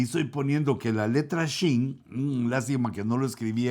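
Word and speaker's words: שין: Se pronuncia con los hebreos, más o menos lo que entiendo, se pronuncia como SH, como Shin.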